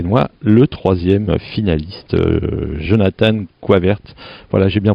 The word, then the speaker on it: Jonathan Goyvaertz: Là on est à Lillebonne, parc des Aulnes, et j'ai la chance d'avoir à côté de moi le 3e finaliste, Jonathan Coivert. Voilà, j'ai bien prononcé?